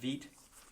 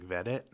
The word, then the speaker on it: Veidt: I think it's pronounced Veet, his last name. We're going to call it that. I think I've been calling it like Vedit or Vidit. Veidt.